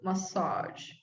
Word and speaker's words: massage: Version, measure, massage. Massage. Oh, this one is difficult. Okay. Massage. Good. This is the same one as genre, the same ZSH1.